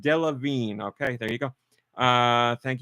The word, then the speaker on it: Delevingne: It's pronounced Delevingne.